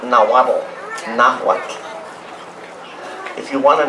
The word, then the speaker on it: Nahuatl: the idioma Nahuatl, not Nahuatl, Nahuatl. If you want to know how to say the TL para pronunciar el TL en Nahuatl, hay que poner el puntito de la lengua detrás sus dientes superiores, así.